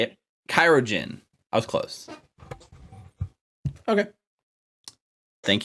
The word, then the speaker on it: chirurgeon: playing a research field that I can barely pronounce. Yes, that is the entire goal. You're Aurelia, the chirologist? Yes. Did I say it? Chirurgeon.